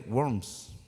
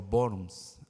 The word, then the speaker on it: Worms: en la ciudad de Worms Alemania o borns Alemania la W en alemanes se pronuncia como una V entonces no es y